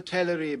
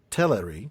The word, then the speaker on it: Teleri: Only the Teleri beyond the mountains still sang upon the shores of the sea. So, it is Teleri that is the first syllable. Teleri. Yeah, the first syllable is the stressed one, the t e l.